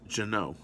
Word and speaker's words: Ginault: see GI in a you LT yeah it's pronounced Juno it's a French pronounced pronunciation but it's made